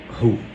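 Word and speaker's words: ῥῶ: Essa letra se chamava ru.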